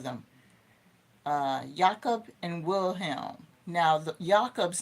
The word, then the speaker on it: Jakob: Now, Jakob's name is spelled Jacob, but I believe it's pronounced Jakob in German.